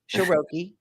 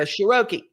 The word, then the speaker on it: Sheroky: that you get tickets ahead of time sharoki yes ma'am and uh we and don't mispronounce it sharoki that's right it's you know it's like vowel